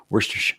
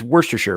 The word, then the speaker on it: Worcestershire: Worcestershire. It's Worcestershire, right?